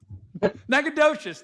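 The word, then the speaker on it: Nacogdoches: The storms are moving right over top of um how do we pronounce it again? Neaked. You try. Nakedious. Thank you, Dan. Good old Nadocious and Applebee.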